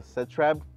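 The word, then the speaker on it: Setrab: the same you know cooler which is the set Reb that's how you pronounce it and it's the best things you're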